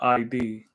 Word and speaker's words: id: Rhymes with hid. Id. Id. Okay.